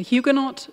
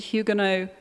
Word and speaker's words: Huguenot: invest those profits inland I've heard two pronunciations tonight on who cannot and who you know and I just wondered which one is preferred a Huguenot this side of the pond and Hugo no the other side I'm sorry if I